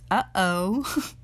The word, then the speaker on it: UOO: organ ization of organisms uoo pronounced uhoh where each species gets